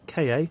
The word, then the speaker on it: Ka: so starting with the ford ka or ford car or ford car however you want to pronounce it that's where we're going